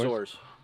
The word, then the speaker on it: Azores: So they came over here from the, how do you pronounce it? The Azores? Azores.